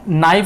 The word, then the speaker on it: knife: अब नाइफ होता है, ये नाइफ मतलब होता है चाकू, जिसे सब्जी काटते हैं, लेकिन इसमें के की आवाज़ आती नहीं है।